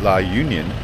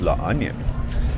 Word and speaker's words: La Union: And back in San Juan, La Union, and by the way, not La Union, that's how I would pronounce it, it's La Onion.